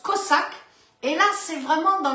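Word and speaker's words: חזק: Ça s'écrit C-H-A-Z-A-K, ça se prononce Kozak.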